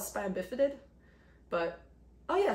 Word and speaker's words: spina bifida: tube defects and spina bifid oh cool i pronounce it right usually called spina bifida but oh yeah spina bifida i think i spelled i can't pronounce all